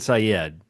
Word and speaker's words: Syed: There's Saeed and Syed.